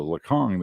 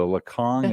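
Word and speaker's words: Lhakhang: that word okay the lacong is l h a k h a n g the h's are silent pretty much yeah well at least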